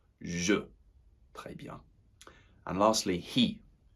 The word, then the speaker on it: je: focusing on that pronunciation so it doesn't sound like j'ai, je.